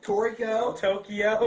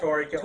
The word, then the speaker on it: Toriko: Tokyo. My bad. Tokyo. I mispronounce things. It's Toriko.